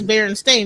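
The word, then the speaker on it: Berenstain: So they're saying it's Baron Stain.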